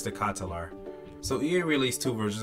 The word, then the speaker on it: De Ketelaere: go on YouTube and figure out how to say his name right but I'm pretty sure it's the catalar so Ian released two